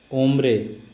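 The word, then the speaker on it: hombre: 80 कोम्ब्रे मैन, H silent है, ओम्ब्रे मैन.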